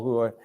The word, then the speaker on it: hooah: A hua, yeah, two-syllable hua.